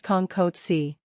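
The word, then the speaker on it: Không có chi: Kong is spoken in a flat tone, while ko is spoken in a rising tone. Con ko chi is pronounced Con ko chi.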